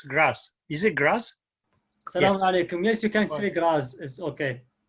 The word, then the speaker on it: Graz: Al-Baghdadi, who is the research physician at Medical University of Graz in Australia, how do you pronounce Graz? Is it Graz?